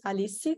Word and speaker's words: Alicia: good evening everyone so my name is Alicia that's how we pronounce it I'm Brazilian and um I've been